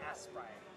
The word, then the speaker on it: Aspray: So it's like Aspray. A lot of people say Aspirin.